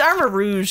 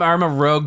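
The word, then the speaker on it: Armarouge: It's Armor Rouge. Yeah, isn't we it? Were calling him Armor Rogue, but it's Armor Rouge.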